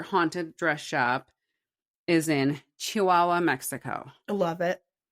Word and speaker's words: Chihuahua: Because I have dumb friends that pronounce it chooa.